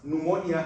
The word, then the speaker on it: pneumonia: There are some people who pronounce pneumonia as pneumonia because there's a P in front of the N.